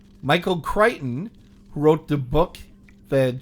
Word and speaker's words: Crichton: It's pronounced Crichton.